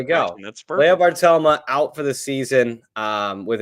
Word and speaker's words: Bartelme: Here's pronunciations. Here we go. Leah Bartelma.